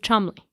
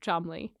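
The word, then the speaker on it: Cholmondeley: an affair with rose hanur the Martian of Chumley not the maress of chum just for clarity that is spell that sounds like her dog food brand oh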